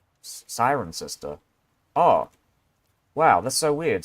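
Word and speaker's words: Cirencester: sarin sinster sinster I don't know how you pronounce that I think it's sinster hold on let me Sirencester. Siren sister.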